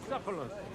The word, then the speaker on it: Bucephalus: What kind of name is Bruce Phallus anyway? It's pronounced Bucephalus.